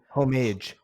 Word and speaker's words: homage: for, which was homage, however you pronounce that. It's the H is not silenced. Yeah, It's okay. homage.